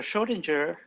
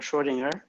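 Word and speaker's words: Schrödinger: wave equation okay so your schrodinger or schrodinger you can pronounce it both ways equation is a linear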